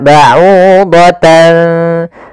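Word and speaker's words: بَعُوضَةً: Maka ba'udatan seakan-akan ada ng, tapi bukan, karena dia ikhfa.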